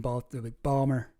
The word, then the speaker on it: Baltimore: People from Baltimore don't pronounce the T in Balmer.